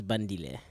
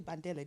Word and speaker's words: Bandile: My name is Bandile. Bandile. Okay. I'm so sorry. I renamed you. I called you Bandele, didn't I? Banile, didn't I? No, Bandile. Bandile.